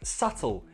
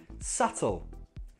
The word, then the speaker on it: subtle: No, the B is silent. We say it like subtle, subtle, subtle.